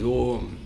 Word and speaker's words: Om: It is A, Oo, Ma, it is Om.